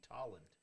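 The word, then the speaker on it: Tolland: baby if you're in tollin mass and want to like i heard actually it's pronounced talent wait holland with a t talland oh that's corny yeah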